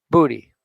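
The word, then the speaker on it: Bodhi: pirate spells it it's b-d-h-i but it is pronounced booty and i will never forget it now that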